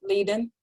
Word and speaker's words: Leiden: Now, this person has factor V Leiden, I believe is how we pronounce Yes, Leiden.